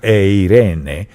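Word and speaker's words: εἰρήνη: quiere que tengamos paz la palabra paz en el griego es una palabrita que se pronuncia eirene y significa unir Dios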